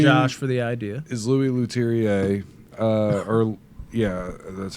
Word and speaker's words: Louis Leterrier: Is Louis Leterrier, that's how you say it.